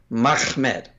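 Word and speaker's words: מחמד: pronunciation earlier, but yeah, it's Mem Ha Mem Dalet. That's Mahmed. Mm-hmm. I don't know any way to say that. Like if you to add another syllable in there, it's just unnecessary and very unlikely.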